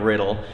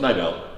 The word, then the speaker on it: Niddel: consistently top 10, Riddle. And am I pronouncing that right? Close, Niddel.